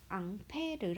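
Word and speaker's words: Ampère: a 아고 씁니다 어 앙페르 아는 사람인데요 이거를 영어 식으로 발음해서 페어라고 읽게 된 거예요 그래서 1암페어 2암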